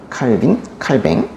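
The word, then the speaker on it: Calvin: 칼빈. 프랑스식 발음은 칼뱅인데요. 칼뱅.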